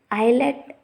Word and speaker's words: islet: If we see the condition, in some of the words S is silent before L. Let us say island, islet, etc.